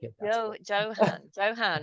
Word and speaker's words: Yohann: Because I could pronounce it the French way, and that would be Yohann. That's cool Okay. if you want to call me Yohann, but very few people actually call me that.